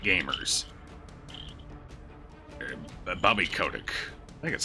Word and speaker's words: Kotick: gaming and he doesn't like gamers but Bobby Kotick that's how you pronounce it you know the head of Activision